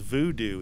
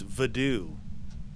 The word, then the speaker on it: voodoo: They said it's not pronounced voodoo. It's vadoo. Like the people in Haiti pronounce it vadoo, not voodoo.